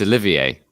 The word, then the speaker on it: Olivier: No, it's Olivier.